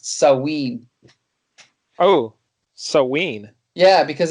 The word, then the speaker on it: Samhain: that it's not pronounced samhain it's sawween oh yeah because apparently the mh makes a w sound in gaelic so i think you